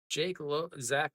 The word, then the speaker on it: Zach: Doosan and Hanwha, Zach Logue, or I keep wanting to call him Jack Logue, Jake Logue because of the way his name is spelled in Korean.